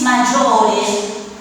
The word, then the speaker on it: maggiore: Igual la I está para que se pueda pronunciar el sonido J, porque si no sería Sí, magore.